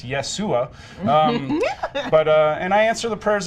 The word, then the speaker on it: Yeshua: That's not how it's pronounced, actually. It's Yeshua.